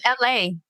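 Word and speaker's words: Elhae: Is it Elahay? Elhay? It's LA. LA.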